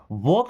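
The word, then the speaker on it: walk: अगला है वॉक slowly. वॉक में भी आपने देखा कि एल साइलेंट लेटर है।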